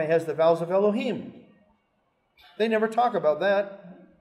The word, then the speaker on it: Elohim: Why are we to pronounce it Elohim at this point? Because Adonai, the actual word Adonai, comes right before it. Okay? So here's Elohim, and here's the vowels that are on Yod He Vav He. It tells us, pronounce it Elohim. Those are the vowels of Elohim.